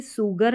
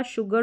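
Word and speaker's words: sugar: बोलेंगे शर यहां पर इसको कभी भी सुगर नहीं पढ़ते हैं एस का उच्चारण स रहता है लेकिन यहां पर एस के बाद में जब यू आता है कुछ रेयर स्पेलिंग्स रहती है तो एस के बाद में जब यू आता है तो एस को हम श करके प्रोनाउंस करते हैं और आप ऐसे भी प्रैक्टिस कर सकते हैं जैसे शोर हो गया शुगर हो गया और टिश्यू हो गया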